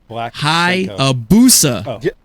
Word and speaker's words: Hayabusa: I want to say it right right now hi a busa hayabusa wrote it I wrote it the way it